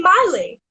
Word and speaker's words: Miley: It's Miley with the my, not Millie with the mi, cause Millie with the mi goes it all night. And I would always sing the song. So everyone would always get my name wrong, and they would always call me Millie.